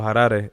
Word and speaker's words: Harare: in um in a in a place called harare or harare is how they pronounce it more like um which is the